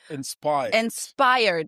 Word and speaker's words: InspHired: for a month at InspHired. Inspired. Do I pronounce it the same as inspired? As inspired. The H is like, it doesn't exist. It's just there for us.